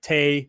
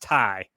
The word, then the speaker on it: Tay: is about to hit tay i'm sorry tai they made very clear on the show that her name is pronounced tai uh tai she's gonna